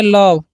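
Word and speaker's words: love: व तो हो गया लव। और इ का उच्चारण क्यों नहीं?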